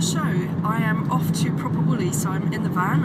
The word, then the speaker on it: Proper Woolly: guys for you to go at home, Proper Woolly. Even with the turn of the mouth there, like that. That's how you say it here in Devon.